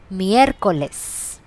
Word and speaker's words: miércoles: Wednesday, miércoles. Miércoles. Thursday, jueves. Now in Spanish the pronunciation for J is K, so it's a little rough pronunciation, not J, not a J pronunciation.